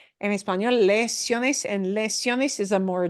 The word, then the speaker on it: lesiones: You would recognize this word as lesions, but they're pronounced lesiones. En español, lesiones, and lesiones is a more general word.